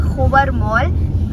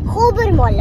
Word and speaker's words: Khobar Mall: we're going to our hobart mall hello you're saying it wrong hobermaul okay stop interrupting in